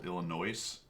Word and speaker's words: Illinois: you say it stickler is it Illinois I believe that's correct if you're from Illinois you love that you love the Illinois no s oh no s in Illinois Illinois illino Illinois Illinois wat